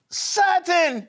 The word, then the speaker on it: Sutton: Sutton. Hello, Sutton. How are you doing, Sutton? Great. Great. Sutton, your name rhymes with a word. Button. Yes, you are right.